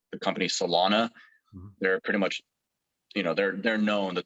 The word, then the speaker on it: Celona: are companies that are professional, like the company Solana.